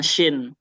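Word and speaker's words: شين: Jadi nggak sama. Ya, jangan cuma dari tulisannya doang dia beda, tapi pelafalannya juga harus beda. Sin dengan shin.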